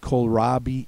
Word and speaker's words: kohlrabi: The word kohlrabi ends with the long E sound spelled with an I, so just remember that one.